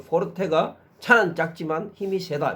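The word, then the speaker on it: forte: 부르느냐 세 개 포르테 포르 포 포 포르테 발음이 포르테 예전에 우리 왜 포르테 이러면은 기아 자동차에서 나왔던 그 좀 작은 1500cc 정도짜리의 성용차 이름이 아마 포르테였던 거 같아요.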